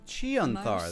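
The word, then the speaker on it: Chionthar: from its foundations and cast into the chanthar chanthar that's how you pronounce it that was the end of it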